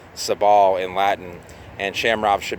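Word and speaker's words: Sabal: other way the same goes for for example sable is actually supposed to be pronounced sub all in Latin and shamrock should be camera ops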